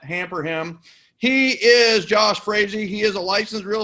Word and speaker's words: Frazee: Frazee rhymes with crazy.